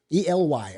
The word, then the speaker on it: Ely: Tomorrow we're going to Ely, Nevada. E-L-Y. I think that's Eli, but he says it's pronounced Ely.